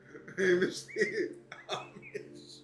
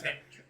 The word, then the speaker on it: Hamish: The H is silent. It's fucking Amish. His name is Amish. His name is Amish. Hey, Oh, yo. H's or something. His name is Hamish.